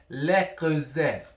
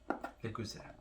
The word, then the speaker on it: Le Creuset: No, I saw some competitive videos on this, and I learned that the pronunciation is Le Creuset. Le Creuset. It's French.